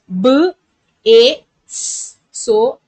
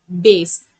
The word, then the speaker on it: base: So e is silent here, and also you say the actual sound of this letter, that is a, base. You would not tell this as bass. You should say it as base, as the first vowel says its actual sound.